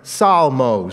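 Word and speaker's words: ψαλμός: You can't perhaps decipher the phonetic equivalents of the Greek letters, but that basically is pronounced psalmos. So when you say Psalms, you're speaking Greek.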